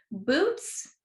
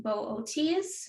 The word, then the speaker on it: Boötes: Apparently, it's actually pronounced Boötes. I believe I'm saying that right, but I'm saying boots